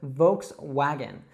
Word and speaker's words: Volkswagen: Now, it's really important that you pronounce that W not as a V sound, but as a W sound. So, Volkswagen.